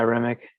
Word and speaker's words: Remick: the idea of, I mean, how do you pronounce it? Is it Remek? Remek? Yeah, Remick.